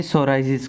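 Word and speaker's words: psoriasis: यह यूज़ किया जाता है ट्रीट करने के लिए सोराइजिस को। इन इस ये जो पी होता है यहां पे साइलेंट होता है। तो इस बीमारी को हम सोराइजिस कहते हैं।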